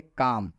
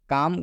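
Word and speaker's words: calm: जैसे काम, काम का मतलब होता है शांत। आप काम में देख सकते हैं कि एम से पहले एल आया हुआ है, इसलिए इस एल का उच्चारण नहीं हुआ है।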